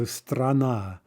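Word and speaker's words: страна: start with ah now remember if the vowel is stressed we're going to hear its full quality we're going to hear its actual sort of true sound for example after after right is pronounced ah when stressed it's also pronounced ah if it's in the syllable directly before the stressed syllable right so strana strana okay but in all other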